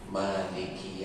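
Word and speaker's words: مَالِكِ: Di ayat yang lain di surat An-Nas itu cara baca Malik itu tidak dipanjangkan. Kalau di surat Al-Fatihah Maliki Yaumiddin, tapi kalau di surat An-Nas Malikin Nas.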